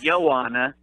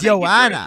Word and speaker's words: Joanna: Okay, you were so close. It's Joanna. Oh, it's Joanna.